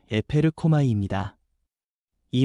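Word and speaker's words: ἐπέρχομαι: 여기서 성령이 임하신다는 말은 헬라어 발음으로 에페르코마이입니다.이 말은 잠깐 스쳐 지나가는 방문이 아니라 이에서부터 실제로 덮치듯 임하여 삶을 바꾸는 능동적인 역사라는 뜻입니다.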